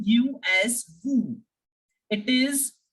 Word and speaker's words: vous: We say aap as vous. Vous. I am not pronouncing S here, as I have told you that yes, generally the last alphabet remains silent.